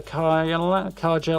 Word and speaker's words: Carja: And then push on into the Carja lands. I keep wanting to pronounce it as a soft J. But apparently they don't in the game, so...